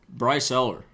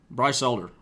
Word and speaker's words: Elder: we have I mean on this list Kingdom Bryce Eller Bryce Elder mispronounced that Ty Madden Peter Henson Pete Hansen